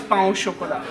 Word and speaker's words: pain au chocolat: Yeah, and the chocolate croissant is pain au chocolat.